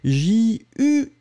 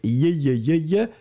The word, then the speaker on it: juillet: So it's J-U-I-L-L-E-T. And you pronounce it juillet.